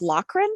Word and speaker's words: Lochren: oh i know so my name just fyi is pronounced lochren like it's lock and i don't really